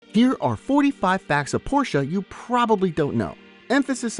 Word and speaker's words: Porsche: 2 syllables, Porsche.